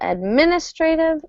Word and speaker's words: administrative: hand administrative assistant no stress falls on the second syllable administrative assistant administrative administrative assistant